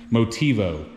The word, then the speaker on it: Motivo: It's a Nitto, I can't even think of the name of it, Motivo. I'm probably saying it wrong. Motivo, that's how you say it.